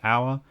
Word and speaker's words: hour: mentioned before half an hour hour despite starting with a consonant has a vowel sound the h is silent so it makes a o sound an o u sound ow or an ao sound